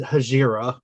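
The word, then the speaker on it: Hejira: month we talked about as i pronounce it hajira which is not how the rest of the group pronounces it uh that turned into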